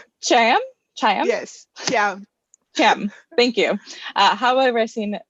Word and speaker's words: Thiam: Think about CH. Thiam? Yes, Thiam.